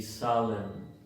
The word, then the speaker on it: solemn: La 74, MN al final de palabra, la N es muda, entonces se pronuncia autumn, damn y solemn.